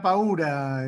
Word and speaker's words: paura: Te puedo corregir, es la paura, Esther, digo, perdón. Con el acento en la U.